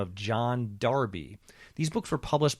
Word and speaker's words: Jahn: His name is Mike John, it's spelled Jahn, and he wrote at